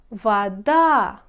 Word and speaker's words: вода: луна слушайте дом он вода окно он дом пишете о говорите о вода окно пишете о говорите а почему о под ударением мы говорим о о без ударения мы